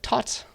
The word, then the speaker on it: taut: It's like taut, like you're pulling a string, and ology, the study of it, for no good reason.